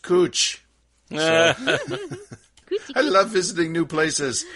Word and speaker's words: Couch: street that has spelled cou CH but is pronounced coach I love visiting new places so now the